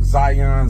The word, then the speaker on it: Zhiyun: Now the name is pronounced like Zion, Zion, or whatever it is you want to call it, but it is excellent.